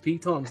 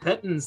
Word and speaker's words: piton: use the pitons and they are pronounced pitons not pittens like everyone thinks is that really is